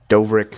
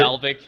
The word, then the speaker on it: Dalvik: Yeah, it's gonna be sad to see Dovrik. I think that's how you The pronounce it, right? Dalvik, Dalvik, yeah.